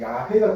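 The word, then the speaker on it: 야훼: 동의를 생각했던 미워하지만 원래 바른손으로 더 정확한 거는 야회가 더 맞아요 그래서 순복음 교단이나 야외로 표현하는게 더 발음이 맞아요 이거는 독일 신화로 넘어가서 제어바로 표현되었는데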